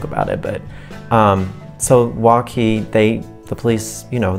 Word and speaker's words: Waukee: west toward adele and waukee is how you say the name of the city if you're not from around here w-a-u-k-e-e and here are the